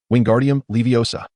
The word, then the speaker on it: Wingardium Leviosa: Repeat after me, "Wingardium leviosa." Pay close attention to elongate the pronunciation of O slightly.